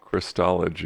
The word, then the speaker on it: Christology: or christ theology how do you say it Christology Christology from a messianic jews perspective I cannot